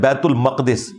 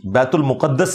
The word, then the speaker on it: बैतुल मक़दिस: यह भी कहा कि ये मक़दिस लफ्ज़ है, मुक़द्दस नहीं है। ये लफ्ज़ है बैतुल मक़दिस, बैतुल मुक़द्दस लफ्ज़ नहीं है, बैतुल मक़दिस इसकी ट्रू प्रोनाउंसिएशन है।